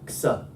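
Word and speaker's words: ξ: You know, ksa.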